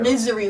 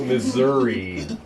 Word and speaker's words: Missouri: misery, Luke. No, Missouri. Let's pronounce it properly here.